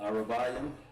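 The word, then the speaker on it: ארבעים: Ah, ra, by, and then of course we're gonna say yam, and that sets the pace, just like that.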